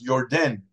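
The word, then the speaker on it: Yarden: Jew instead of you so the Jordan Rivers really pronounced Your Den Your Den let's even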